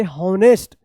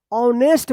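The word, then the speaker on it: honest: एच ओ एन ई एस टी आप इसको पढ़ रहे होंगे। हनेस्ट क्या पढ़ते होंगे? हनेस्ट पढ़ते होंगे। होनेस्ट जो बिल्कुल गलत है। ऐसा उच्चारण नहीं करना है क्योंकि यहां पर एच जो है ना यह साइलेंट रहता है। इसका उच्चारण नहीं होता है।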